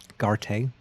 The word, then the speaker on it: Garte: Okay, now I know how to pronounce his name as well. Mm-hmm. Garte.